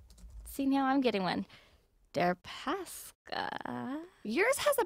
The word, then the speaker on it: Deripaska: Deripaska. Yours has a pronunciation, Deripaska.